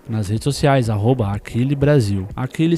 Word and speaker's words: Akilli: Aquile se escreve AKILLI, tá certo?